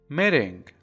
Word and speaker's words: meeting: در اینجا دقت کنید اگر تی رو به صورت دی تلفظ کنید بهتره، ولی اگر اون رو به صورت تی هم تلفظ کنید هیچ اشکالی به وجود نمیاد. پس اگر بگید meeting درسته، میتینگ هم بگید درسته، هیچ تفاوته چندان خاصی نداره. فقط اگر با دی تلفظ بشه یک مقدار سطح زبانتون رو بالاتر نشون میده.